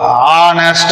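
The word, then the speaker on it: honest: ஆரம்பிச்சிருக்கிற letter இப்ப வந்துட்டு ஹச் அப்படிங்கறது வந்துட்டு ஒரு கான்சோனன்ட்டான லெட்டர் தான் ஆனா அதை வந்துட்டு என்னது உச்சரிப்பு பண்றப்ப வந்துட்டு ஹானஸ்ட் அப்படின்னு தான் ஆரம்பிக்குது ஹானஸ்ட் அப்படிங்கறது ஆரம்பிக்குது சோ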